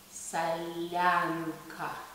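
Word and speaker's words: солянка: So the correct pronunciation of this dish would be not salyanka, it would be salyanka.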